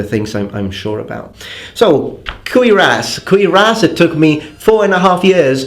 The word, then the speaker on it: cuirass: So, cuirass, it took me 4.5 years to learn how to pronounce that word in English.